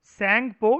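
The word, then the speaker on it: Tsangpo: ठीक है, सैंगपो, T silent होता है सैंगपो, या फिर यांग से, है ना?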